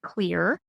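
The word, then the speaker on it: Xlear: one of them is clear nasal spray it's pronounced clear but it's spelled with an X instead of a c because one of the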